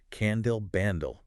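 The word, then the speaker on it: Kandil Bandil: But the pronunciation is key. The can is resounding. The dill is decreasing. Then ban, again resounding, dill decreasing. And the R is this rolled, high-pitched motor sound, but with a childlike sweetness.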